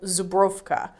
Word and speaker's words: Żubrówka: know what it's like in poland is labeled zubrovka like my polish pronunciation so just a little bit of trivia